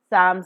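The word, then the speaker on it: psalm: s a l m l is silent here Sam 's P also is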